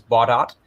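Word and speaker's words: Baudot: run this uh bot code i learned the pronunciation is bought out i always thought it was french it is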